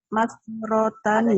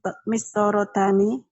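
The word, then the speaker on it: مسطرتان: Bukan mastoro. Mastoro itu apa tuh Bu? Mastoro. Mastorotani. Adanya mistoro. Nah, Liman hatanil mistorotani. Ya.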